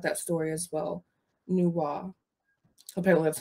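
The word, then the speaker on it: Nüwa: but i did like that story as well nuwa apparently that's how you pronounce i for me i like atta i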